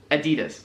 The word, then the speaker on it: Adidas: So, the first one is Adidas. Don't know what it means. Adidas. That's what they're trying to say.